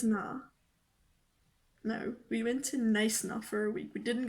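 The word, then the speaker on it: Knysna: No, we went to Neisna for a week. We didn't go to Neisna. Okay, it's Neisna.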